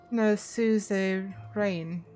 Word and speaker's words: suzerain: Zenny says it's like an entity or state that reigns over another, like a feudal overlord, pronounced a suzerain, if I remember correctly.